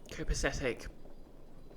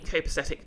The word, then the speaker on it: copacetic: wouldn't hurt no l emphasis isn't on the first and or third syllables you thought most of it was on the third copasetic I mean copesthetic feels like a a natural way to pronounce it so I'll stick with that uh which one of